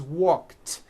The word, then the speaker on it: walked: The word walk, which has an unvoiced K sound at the end, walk, becomes walked. Yesterday I walked.